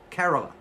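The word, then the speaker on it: Kerala: Carola.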